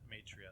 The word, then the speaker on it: Maitreya: In Chinese Buddhist culture, Budai came to be revered as an incarnation of Maitreya, Maitreya. Maitreya, that's right.